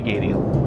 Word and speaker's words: Gadiel: Gadiel.